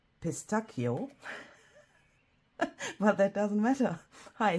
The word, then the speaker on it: pistacchio: I always mix it up with the Italian language where it's pistacchio.